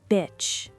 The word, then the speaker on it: bitch: Beach has a long E sound. Bitch has a short I sound. Small difference, big meaning change. Beach, bitch.